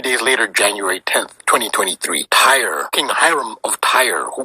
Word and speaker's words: Tyre: is King Hiram of tire tire that is t-y-r-e pronounced by Americans Tyree as in Tyree Nichols who was beaten